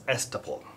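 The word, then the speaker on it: estoppel: promissory s all right this is pronounced as estupol so such cases give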